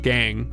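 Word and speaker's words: gangue: It It's just pronounced gang.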